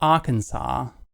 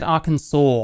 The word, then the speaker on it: Arkansas: doesn't matter what the is it Arkansas or is it just Aransas and Americans have been having us on for a long time I said arkans saw on AC acent once but that's cuz other people say it all the time and it's really annoying